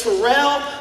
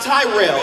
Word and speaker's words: Terrell: My name is Terrell. It is not Tyrell. It is not Terrence.